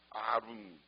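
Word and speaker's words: ערום: 이게 히브리어인 이걸 아 이렇게 발음하는 겁니다 아름 그런데 똑같은 단어인데 어떤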